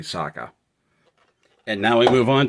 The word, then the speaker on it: Sokka: And yes, I know it's Sokka, and I know I've been saying Sokka, but it's spelled Sokka, and that messes with me, but I'm aware that his name is actually Sokka.